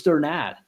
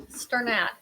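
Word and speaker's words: Strnad: Yeah, he said it was Sternad. Sternad.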